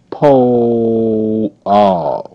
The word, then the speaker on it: pole: Pole. Pole. E is silent.